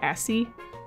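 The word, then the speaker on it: ASCII: It is It's the equivalent of How do you say Is it like asy art for text to speech? I removed uh the ability to do I always call it asie, but I'll say asky art because I don't want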